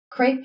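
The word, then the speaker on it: crêpe: Is that even how that's pronounced when it's pronounced for the paper instead of the food? Crepe paper.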